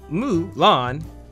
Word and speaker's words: Mulan: Australian company Burbank studios mu lon yes that's how they pronounced in the movie it's his take on